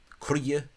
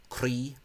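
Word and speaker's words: croí: Buie, crie, heart, not cree.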